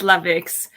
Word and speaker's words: Lavix: even pronounce it correctly i say yeah it's it's lavix um i'm glad how